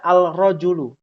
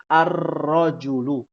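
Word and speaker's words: الرجل: dibacanya menjadi tasydid ya lalu tidak boleh kita membaca al-rojulu tapi harus menjadi arrojulu ya tholibun pun demikian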